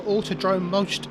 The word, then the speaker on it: Autodrom Most: Autodrom most today. Have I pronounced that right, Ethan?